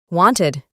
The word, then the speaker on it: wanted: Simplemente se añade ed al final del verbo base y la pronunciación es wanted. Exactamente como lo escribimos, pero la E no es muy marcada.